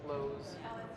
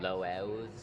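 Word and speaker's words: Loews: yeah, it's been fun here at the Lowe's. Lowe's? Is that how you say it? Because I feel like I'm saying the hardware store. No, it's Lowe's. It is? Yeah, it's Lowe's. How L-O-E-W-S.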